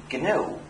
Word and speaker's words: GNU: not new anymore but it still is and always will be canoe no matter how many people mispronounce it and say Linux by